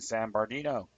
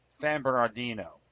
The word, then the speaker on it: San Bernardino: weapons like the ones that are used in San Bardino. San Bernard San Bernardino. Okay. I was mispronounced that as he frequently does.